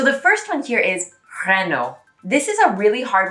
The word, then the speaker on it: Renault: hear renault but actually in the french way of saying it the l and the t are silent and the a and